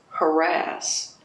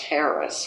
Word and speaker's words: harass: Harass, which he always insisted be pronounced Harris, which I don't agree with, but I did it.